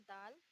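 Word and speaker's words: دال: उर्दू में इसे बोलते हैं दाल, और ये प्रोनाउंस करते हैं हम दा से। और इंग्लिश में तो सभी को पता है दा क्या होता है।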